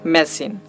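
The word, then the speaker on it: machine: এখানেও আমরা CH পাচ্ছি কিন্তু এখানে তার উচ্চারণটা হচ্ছে তালবস্য এর মতো।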